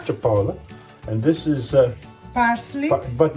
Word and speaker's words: cipolla: Cipolla. Cipolla.